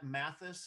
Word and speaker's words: Mathis: Yeah, and as far as OK Human goes, Rob is pronounced Mathis. Is that how you pronounce his last name? Yeah.